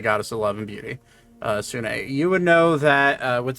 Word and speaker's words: Sune: It's pronounced Soon. Sune. Sune. Yes. It's Sune, the goddess of love.